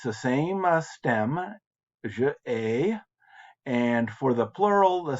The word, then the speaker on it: hais: But then il haïs, it's I pronounced that wrong. It's je hais and tu hais and il hais.